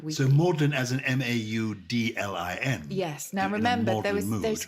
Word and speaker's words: Magdalen: So maudlin as an Maudlin. Yes. Now remember, there was confusion between the pronunciations of those. So the Oxford College, Magdalen College, is actually pronounced maudlin.